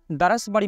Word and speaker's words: দরসবাড়ি: সেই দরস অর্থাৎ পাঠ এই দরস থেকেই এই মাদ্রাসার নাম হয় দরসবাড়ি এবং এটি বিকৃত উচ্চারণে অনেক সময় পরিচিত পায় দারাসবাড়ি মাদ্রাসা হিসেবে।